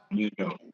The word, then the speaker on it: Mandeaux: Now, folks, if you want to check it out, go to is it Mandeaux? Is that how it's pronounced? Mandeaux. Correct.